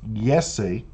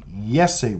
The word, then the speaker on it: Jessie: Born in Canada to Colombian parents, Reyez, who pronounces Jessie as Yessie. So there's two artists that you have to understand. Six Lack is Black and Jessie is Yessie with a Y, because